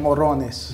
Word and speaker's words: morrones: de ajíes se llaman morrones. Nosotros pronunciamos ‘mojones’, y eso se refiere a un montón de caca. - Caca. - Mojones… ¿Y cómo se pronuncia? ¿Morrones? Una cosa es morrones y otra es mojones.